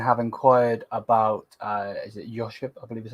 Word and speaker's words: Joško: So it says here, Bayern have inquired about, is it Joško, I believe is how you say it, Gvardiol, and are informed about his situation.